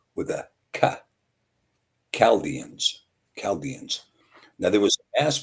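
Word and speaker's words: Chaldeans: But the Chaldanss is a misprononunciation because the ch is pronounced with a ca chalians. Calaldians.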